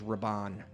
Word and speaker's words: Rahban: it said r-a-d-y-r-a-d-y and last name is Rabon r-a-h-b-a-n the reason I have to spell it is because it's ethnic glad you did